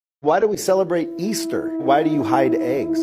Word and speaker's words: Ishtar: It comes from the celebration and the worship of the fertility god Ishtar, pronounced Easter.